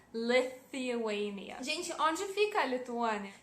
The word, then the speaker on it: Lithuania: Sim, tem aquele TH que vocês têm muita dificuldade de pronunciar. Sim, no nome do meu país vocês têm que falar ele, fazer aquele som. Lithuania.